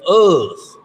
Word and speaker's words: Uz: It's not so much, it's the land of Uz. Is I'm pronouncing that right? Use Uz. Yep.